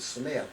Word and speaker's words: Smythe: Oh, yeah, that was old man, spelled his name Smythe, but they pronounce it Smith.